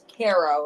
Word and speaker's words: Cairo: Not Cairo, Egypt, but Cairo, Illinois. It's Kairo.